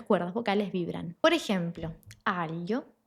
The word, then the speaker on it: aglio: El primero es decirte que puedes imaginarte una L antes del sonido.